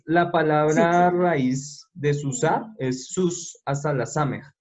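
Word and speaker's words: סוסה: Y a la anterior a la hey, la letra que esté anterior a la hey, la vamos a decir con la A. Entonces por eso queda susá. Pasamos de decir sus a decir susá. Esta hey de aquí no suena, pues porque esta hey es muda.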